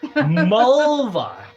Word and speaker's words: Mulva: dolores clitoris ah bulba mulva which rhymes with vulva yes which is like